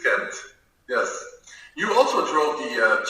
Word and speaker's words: Ghent: Ghent, it's Ghent.